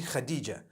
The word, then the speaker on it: Khadija: I would say Hatis for that. No, it's actually Khadija.